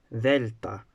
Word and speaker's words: delta: And then there is gamma, and then there is delta. Now this letter is interesting because it has the pronunciation D in names. Everywhere else it's pronounced as the, as in English this.